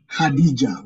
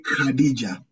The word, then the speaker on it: Khadija: Or in the word Khadija, we'll not say Khadija, we'll say Khadija.